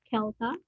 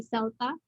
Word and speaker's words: CELTA: credible institutions the most credible is of course kelta or the cambridge one because uh they're really